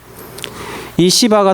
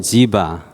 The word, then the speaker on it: 시바: 거냐면이 시바는 알고 있었습니다 히브리말로 시바고 영어로는 지바 그래서 우리 한국말은 히브리 발음을 좀 따라합니다 시바 시바가 다윗에게 자기가이 불루